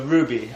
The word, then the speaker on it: RWBY: Alright, so Ruby, it's spelled RWBY, and, it's a series that's going